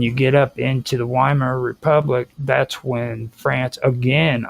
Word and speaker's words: Weimar: You keep on calling it the Weimar Republic. Weimar. Remember Weimar. what? Yeah. What the German would use? Weimar. Yeah, the W. It would be a V.